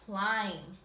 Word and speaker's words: climb: is I understand, or a silent B at the end of the word, like in climb.